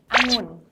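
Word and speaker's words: องุ่น: So here are the Thai tongue twisters that like foreigners find hard to pronounce. So the first one, it means grape. You can repeat after me. It's angun.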